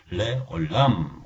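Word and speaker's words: לעולם: 그래서 레오, 이건 읽지 않고, 그렇지만 아랍 국가에 살았던 유대인들은 레오 하고 읽을 수가 있습니다. 굉장히 힘든 발음이죠. 여러분 만약에 그 발음이 힘드시면 그죠? 묵음으로 처리하셔도 다 알아듣습니다.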